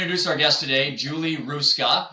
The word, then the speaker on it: Hruska: So I'm going to introduce our guest today, Julie Hruska, and I did get that right. There's a silent H there for those of you reading this.